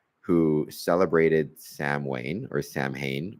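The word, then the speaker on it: Samhain: celebrated Sam Wayne or Sam Hayne or sa Wayne but it's called Sam you know pronounced Sam Hayne in the the Halloween movies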